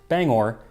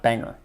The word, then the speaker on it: Bangor: of song explaining that it is pronounced Bangor not Banger it's really really good